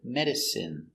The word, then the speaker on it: medicine: Pronunciation is in, medicine.